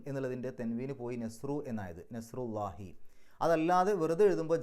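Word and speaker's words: نصر الله: നെസ്റുല്ലാഹി അവസാനത്തിൽ കെസ്ർ ഇടാനുള്ള കാരണം. ഇങ്ങനെ മുലാഫായിട്ട് വരുമ്പോൾ അതിന് തൻവീന് നഷ്ടപ്പെടും. നെസ്റുൻ അള്ളാഹി എന്ന് പറയില്ല, നെസ്റുല്ലാഹി എന്നാണ് പറയാം. അപ്പോൾ ഈ മുലാഫ് ആയതുകൊണ്ടാണ് നെസ്റുൻ എന്നുള്ളതിൻ്റെ തെൻവീന് പോയി നെസ്റു എന്നായത്, നെസ്റുല്ലാഹി.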